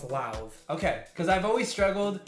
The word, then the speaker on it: Lauv: it up today okay it's as if you're gonna pronounce loud but make the d a v so it's live okay because i've always struggled and i've heard love yeah i'm like i